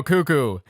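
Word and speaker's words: Cucco: that i'm gonna say cuco i'm gonna say cuco wait you know it's got it's got two o's it's got two cuckoo cuckoo there we go cuckoo ha this one's called cuckoo hunt and uh well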